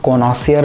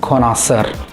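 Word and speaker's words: connoisseur: बहुत से लोग इसको कॉनॉसियर बोलते हैं, चलता है, इट्स ओके, बट जो राइट इंग्लिश प्रोनाउंसिएशन है वर्ड का वो है कॉनॉसर। ओके, तो मैं याद रखने की ट्रिक बता देता हूँ। आपको बोलना है कौन है सर, कुछ भी।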